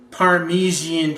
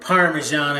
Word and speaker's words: parmesan: You could buy a pizza sauce or whatever you want, and some Parmesian cheese or parmesan if you want to say it correctly.